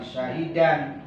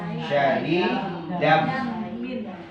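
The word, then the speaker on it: شَهِيدًا: Tanwin bertemu dengan ba. Ada tanda mim kecilnya ya? Ada. Artinya bacaan iklan, bukan syahidan, tapi dibacanya syahidam. Kul kafa billahi syahidam baini wa bainakum.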